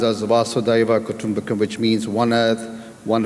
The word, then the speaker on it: Vasudhaiva Kutumbakam: So the title below the G20 that you see, the Indian theme is, in the Hindi is pronounced as Vasudhaiva Kutumbakam, which means one earth, one family, one future.